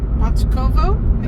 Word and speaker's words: Bachkovo: right, ladies and gentlemen, we are leaving Plovdiv, heading out to a monastery called Bachkovo. I think that's the right pronunciation.